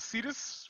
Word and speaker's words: Cetus: You know what Cetus rhymes with? Fetus.